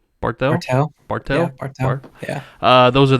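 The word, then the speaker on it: Barthel: How do you pronounce his last name? Bartel.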